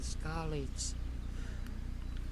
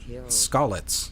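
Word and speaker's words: Skalitz: her whole family in scalids hey you're saying it wrong scallet and the youngest of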